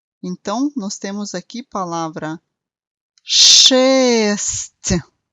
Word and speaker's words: шесть: Então, nós temos aqui palavra шесть. De novo, nós temos no final um pouco de I inaudível, que faz mudar a pronúncia da letra T para um som um pouco mais suave.